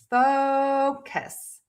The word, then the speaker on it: focus: And you want to make sure that you stress that syllable. That means it is going to be louder, longer, higher in pitch. Syllable number two will be shorter, softer, and lower in pitch.